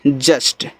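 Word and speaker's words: just: जे यू एस टी जस्ट, देखो इस यू का उच्चारण आपको नहीं कहना है, एस और टी आपस में सटे हैं, इससे आपका आधा सा, टी सेटा आपका जस्ट हो गया।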